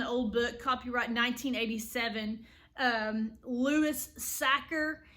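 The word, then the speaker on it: Sachar: book copyright 1987 Lewis sacker if you ever have a hard time remembering how to say his name it rhymes with cracker so Lewis Sakura he also another book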